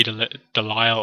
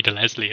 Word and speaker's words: DeLisle: And just instantly the voice from Grey Delisle, I believe it's pronounced, or Grey Leslie. I think it's Delisle.